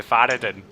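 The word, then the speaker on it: Faradin: talking or you've changed your name already to faraday yeah is that pronounced suck is that f-a-r-a-d-i-n is silent um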